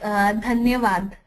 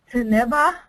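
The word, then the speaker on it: धन्यवाद: In my language, it's like dhanyavad. Taneba?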